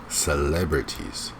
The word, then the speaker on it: celebrities: you crazy okay here the word stress is something wrong syllable it's celebrities celebrities alright again be careful with adding